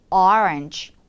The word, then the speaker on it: orange: 주황색 장미라고 하면 어떻게 발음하면 좋을까요? 오렌지 로즈가 아니라 orange rose, orange rose 이렇게 발음해 주세요.